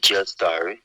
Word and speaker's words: Jastar: It's spelled hmm it's spelled J A without the H. Without no H here, Gastar, like Just Star, Just Star.